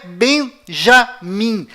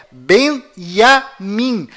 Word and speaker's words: Benjamin: é tchau além disso não é bem já mim a pronúncia correta é benjamin pois lembre-se até hoje não existe em hebraico nenhuma letra com som dj confira é benjamin metaniarro